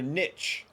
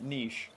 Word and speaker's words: niche: infernal jobs their their Niche if you will I know some of you like to pronounce it niche n and you're wrong it's niche all right I'm American and